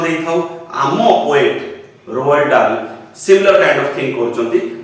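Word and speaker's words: Dahl: Mention कराइस ताको नाटी रोअल्ड डाल डी ए एच एल ए एच टाको हमें कोड ना कोडी टिक साइलेंट रखुचे सेना टिक लक्ष्य करियो। Now that is the native speakers तांकर सेमती चाले सो we have to accept the fact that it इज रोअल्ड डॉट टिक उच्चारण करिबा एवं डाल रे एच टाको साइलेंट रखिबा।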